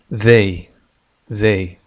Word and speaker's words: they: لاحظ بأن هذه تنطق ذ كما هو الحال في حرف الذال المعجمة في اللغة العربية. they الآن سنتعلم استخدام هذه الضمائر في جمل مع verb to be.